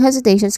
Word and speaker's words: hesitation: Pronunciation wise, hesitation to start with has which has a buzzing sound voiced Z sound and then followed by hesitation which is which has a tip thong sound a and then um t i o n t i o nan. So this is hesitation.